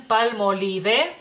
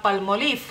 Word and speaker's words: Palmolive: casa y ustedes dicen los mexicanos dicen palmolive palmolive es decir o sea tarde tal y como está escrito o sea ustedes pronuncian cada una de las letras que vienen en esa palabra mientras que en lituania